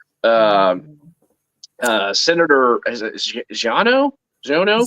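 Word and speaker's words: Xiono: uh Senator is xano zono zono Z with a z ex's pronounced that X's it's EX i o n o it's X is pronounced like a z no yeah um uh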